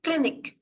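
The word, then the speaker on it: Klinik: Then for clinic, the spelling is different, but the pronunciation is same. Spelling is K-L-I-N-I-K, but the pronunciation will be clinic only.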